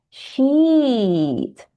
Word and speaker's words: sheet: So to say the first one, meaning lembar, we say long E. Sheet. To say the bad word, we say sheet.